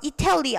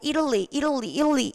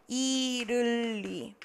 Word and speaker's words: Italy: Italy, 요거 발음이요. 이탈리 아니고 Italy 이렇게 가셔야 돼요. Italy.